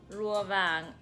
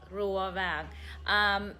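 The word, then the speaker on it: Rùa Vàng: How do you say it properly? Rule back. Rua vang. Okay, there you go. It's called Rua vang, which translates loosely to Golden Turtle in English.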